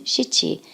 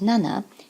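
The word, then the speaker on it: 七: pronunciation and I think if you listen cheechee and nana it's very easy to see that nana is much clearer and easier to catch than Chitti the same with the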